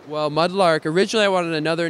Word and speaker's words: Mudlrk: And so I just dropped the A and kept the R, so it's still pronounced the same way phonetically, but looks a little bit more interesting, maybe easier to trademark.